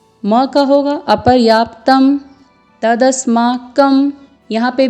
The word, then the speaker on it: तदस्माकं: बलम में लवर ऊपर बिंदु है तो इसका उच्चारण अपर्याप्त अम्म में मौका होगा परया तप्तं तदस्माकं यहां पर भी मौका होगा और बलम यहां